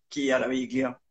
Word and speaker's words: Chiaraviglio: cuentes quién es Charaviglio, ¿se pronuncia así? Sí, es de origen italiano, se puede pronunciar Chiaraviglio, pero da Ah, ok.